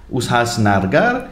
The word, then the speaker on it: Ulhasnagar: Ulhasnagar. Ulhasnagar.